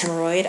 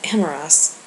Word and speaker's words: Hemorrhas: Find the Lord of Air and his confluence, hemorrhoid, I ordered. Uh, Lord, I'm afraid you've been mispronouncing my name. It's supposed to be Hemorrhas, the mage instructor said.